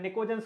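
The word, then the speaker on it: pnictogens: P silent होता है इसमें, निकोजन्स के नाम पे पूछा जाएगा, ठीक है।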